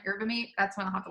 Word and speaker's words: yerba mate: It's like the Y is silent, yerba mate.